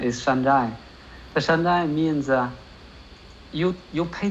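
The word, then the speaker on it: 山寨: There is a Chinese word for the made in China is in the Chinese pronunciation is shanzhai.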